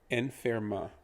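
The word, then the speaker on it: enferma: he would be en the en is pronounced just like the letter n so it's just literally n then you have fair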